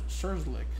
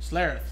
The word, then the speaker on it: Schlereth: Scherzlick. So I forgot to say his name. Schlereth. Sorry, that's what it was.